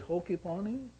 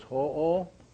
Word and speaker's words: Ho'oponopono: So it's ho-o. Ho-o. Not ho, like Santa Claus. Yeah, so pono, pono. So ho'o, pono, pono.